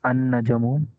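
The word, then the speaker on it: النجم: Al-Najamu becomes An-Najamu.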